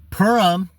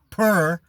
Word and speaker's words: Pur: Purim is the casting of lots.